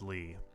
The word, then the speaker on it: L1: Li I for Lee it's L1 but it's pronounced Lee oh okay I could